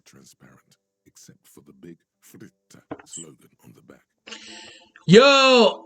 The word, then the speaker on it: Fritte: Raincoats are transparent, except for the big Fritte slogan on the back. Yo, I pronounced fritte correctly.